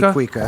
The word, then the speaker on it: cuica: I think it's pronounced kuka, even though it should be cuica.